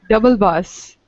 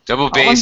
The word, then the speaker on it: double bass: No, double bus. No, that double bass is double bass.